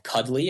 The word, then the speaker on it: Cuddli: I have a startup called Cuddly. It's spelled Cuddli.